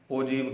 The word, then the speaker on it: ogive: देखिए, कुछ बच्चे इसको सोच सकते हैं कि इसे ऐसे बोलना चाहिए ओ गिव। ओ लिखा हुआ है और GIV गिव, तो ओ गिव बोलना चाहिए, लेकिन इसका जो सही प्रोनाउंसिएशन होता है, ओ गिव बोलने के बजाय इसको क्या कहा जाता है? ओजीव कहा जाता है।